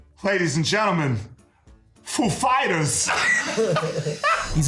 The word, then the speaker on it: Foo Fighters: He asked us if the accent was on Foo or Fighters. The accent is on Fighters, actually. He's like, "Ladies and gentlemen, Foo Fighters!"